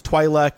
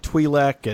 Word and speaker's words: Twi'lek: Like there's Twi'lek and Twi'lek, and the both are correct.